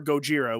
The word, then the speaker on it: Gojira: zilla meaning whale um or gojira which would be the japanese pronunciation of it so uh if i